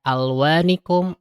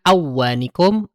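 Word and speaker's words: ألوانكم: Jadi dibaca dibacanya jelas ya. Alwanikum alfi alsinatikum bukan awwanikum afi asinatikum. Itu salah ya.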